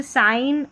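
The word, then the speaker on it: sign: चलिए अब जी साइलेंट रहता है। जैसे साइन और यहां पर है यहां पर भी नौ करके है।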